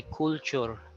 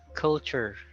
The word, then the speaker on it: culture: You don't say culture. It's culture, commit, communicate, contribute.